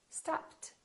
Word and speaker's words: stopped: wait waited attend attended if the last letter is a voiceless sound we keep the T stop stopped work worked if the last